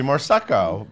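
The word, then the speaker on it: Moresco: The fantastic Bobby Morseco, rhymes with prosecco, will direct it.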